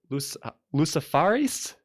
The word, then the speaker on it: luciferase: It's spelled Luciferase. Yeah, luciferase. Yeah, Lucifer with ASE on the end.